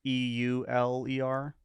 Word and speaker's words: Euler: so first question is his name uh like e-u-l-e-r exactly okay uh his name is pronounced euler um what uh yeah i didn't